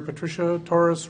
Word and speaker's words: Patricia Torres: I begin to my immediate left from District 63 in Minneapolis, Senator Patricia Torres. Am I pronouncing that correct?